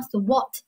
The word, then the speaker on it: thwart: 一个单词叫做 thwart 啊，thwart 是个美式发音，如果英式发音应该读成 thwart。